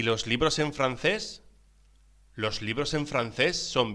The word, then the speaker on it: francés: Pronúnciese francés. La C ante las vocales E o I se pronuncia como una TH en inglés.